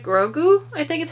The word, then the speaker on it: Grogu: how cute i never say his name right grogu i think is how you pronounce his name everybody calls him baby yoda